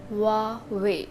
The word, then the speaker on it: Huawei: It looks like the correct pronunciation of this is Huawei because spelling is like this, Huawei, but the correct pronunciation is Huawei.